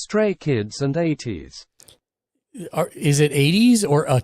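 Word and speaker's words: ATEEZ: I'm saying is said but together is it pronounced 123 said ATS gamerslich said 80s right is it is saying it it's like 80s just like the AI said narica love 123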